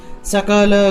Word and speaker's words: সকল: দনুজবন কৃশানুম, দনুজবন কৃশানুম জ্ঞানী নামগ্রগণ্যম, জ্ঞানী নামগ্রগণ্যম সকল, এখানে দেখুন আমি সকল বলেছি, দন্তেশ্বর উচ্চারণ হলো স, তাহলে সকল, ঠিক আছে।